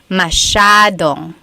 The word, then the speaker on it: masyadong: So the S-Y-A is a sh sound. Masyadong.